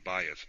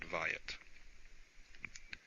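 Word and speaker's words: בַּיִת: So here we have a begad kafat letter, the bait, and it is beginning a word and therefore a syllable, and no preceding vowel. So the dagesh lene is there, and it's pronounced bayit, not vayit.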